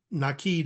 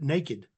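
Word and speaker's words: Nakid: my favorite ones is the naked family um nid is how it's pronounced but an English person speaking American would pronounce it naked is what it looks like and I had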